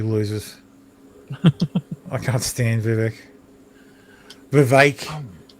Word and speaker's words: Vivek: Vivek rhymes with snake.